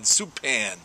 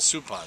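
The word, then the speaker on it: Suppan: Supan, for God's sakes, it's Jeff Supan.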